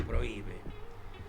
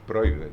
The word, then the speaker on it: prohíbe: Primero para que se pronuncie prohíbe. Y porque si no, ahí diría prohíbe. Prohbe. Claro. El el el la tilde destruye el diptongo.